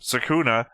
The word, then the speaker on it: Sukuna: Sukuna, if you want to pronounce it closest to the Japanese.